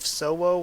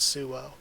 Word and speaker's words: Suo: rankers attacking Suo, and I'm gonna kind of go with the Suo pronunciation instead of Sowo, which I've been saying a lot. I kind of like Sowo because it reminds me of the Pokemon Ho-Oh, but I'm pretty sure it's supposed to be pronounced Suo.